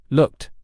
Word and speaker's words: looked: Looked, needed, called. The answers are: looked sounds like t, needed sounds like ed, and called ends with the d sound.